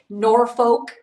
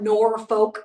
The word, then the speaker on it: Norfolk: really sensitive about that Norfolk is not Norfolk Virginia it's norfol norfol Virginia so anyway Louisville is